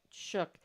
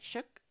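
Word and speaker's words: Shuck: wow um Robert Lee shook s-h-u-c-k s-h-u-c-k I hope I'm saying it right shook it's not a c h o o k s h u c k and he goes by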